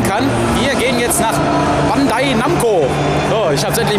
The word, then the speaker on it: Bandai Namco: Jetzt überhaupt verstehen kann, wir gehen jetzt nach Bandai Namco. So, ich habe es endlich mal richtig ausgesprochen.